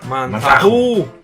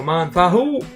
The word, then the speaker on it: Manzajú: Manzahu. Manzahu. Que tiene ese acento en las tres, ¿no? Manzahu.